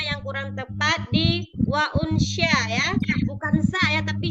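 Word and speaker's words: أُنْثَىٰ: Inna khalaqnakum min zakari wa unsa. Betul Bu? Wa unsya, bukan sa, sya ya.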